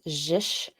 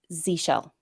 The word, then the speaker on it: zsh: I read it as jish I'm told that it is pronounced Z shell Z show yeah the sh is short for Shell which makes sense because